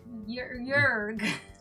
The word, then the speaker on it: Jörg: Jörg is a German name. It's pronounced yeah. Hello, hello. Just Yeah. to, like, Jörg.